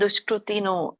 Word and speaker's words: ದುಷ್ಕೃತಿನೋ: ಆಸುರಂಭಾವಮಾಶಿತಹ ಇದು ಉಚ್ಚಾರಣೆ ನಮಾಂ ದುಷ್ಕೃತಿನೋ ಶಕೆ ಕವತ್ತು ಒಟ್ಟು ಸುಳಿ ಇದೆ ದುಷ್ಕೃ ಋಷಿರು ದುಷ್ಕೃತಿನು ಮೂಡಾಹ ಪ್ರಪದ್ಯಂತೆ ನಕೆ ತವತ್ತಿದೆ